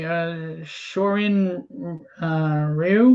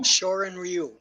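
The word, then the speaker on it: Shorin-ryū: Shorin Ryu. Shorin Ryu. Ryu. Okay, I didn't know how to pronounce it.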